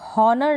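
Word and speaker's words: honour: मतलब होता है सम्मान इसको आप ऑनर ना पढ़ें ऑनर पढ़ेंगे ह साइलेंट है बहुत है मतलब डेट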